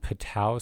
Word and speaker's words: Patau: Remember the association between holoprosencephaly and Patau syndrome, which is trisomy 13, and that is spelled P-A-T-A-U.